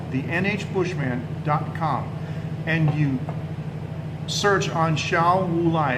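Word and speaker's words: Xiao Wulai: and you search on Shao Wulai, it's spelled X-I-A-O, that's Shao, X-I-A-O. Wulai is kind of how it sounds, W-U-L-A-I.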